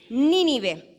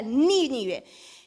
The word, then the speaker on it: Nínive: ciudad tenía que ir nínive con acento en la primera e i es una palabra esdrújula nínive que vaya a nínive